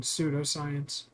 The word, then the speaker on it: pseudoscience: Did you pronounce the P in pseudoscience?